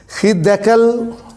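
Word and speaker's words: חדקל: نام ہے دجلہ، اور عبرانی زبان میں اس کا نام ہے خدکل، اس کا تلفظ بنتا ہے خدکل، اس کا تلفظ بنتا ہے، اور یہ اس طرح سے ہے خدکل، یہ اس کا تقریباً یہ تلفظ اس کا بنتا ہے۔ اور بائبل کے اردو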